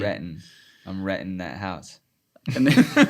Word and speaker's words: Renton: It's spelled with a T, but you don't pronounce the T. Renton.